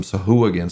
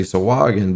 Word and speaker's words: Sahuagin: back, he calls them Sahuagin. So I keep wanting to say Sawagin, but since he wrote the damn book, I'm going to call it what he calls them.